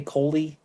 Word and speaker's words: Coley: Are you I want to say Corey, and I'm saying it wrong. Please forgive me. Do I want to say Coley? Yes.